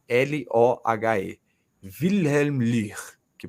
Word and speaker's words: Löhr: Escreve Wilhelm, aí, né, o outro nome é Lohe, Wilhelm Löhr, que pronuncia, né?